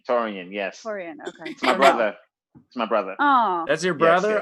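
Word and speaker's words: Taurean: him actually that's awesome is it t-a-u-r-e-a-n it is yeah oh yeah i pronounced it right yeah it's taurian taurian yes oh that's your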